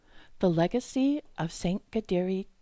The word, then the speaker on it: Kateri: For example, Saint Kateri Tekakwitha's name and that of her community, KAHNAWAKE, have Mohawk pronunciations with French spellings. So for English speakers, the important thing to remember is that the letter K gets a G sound.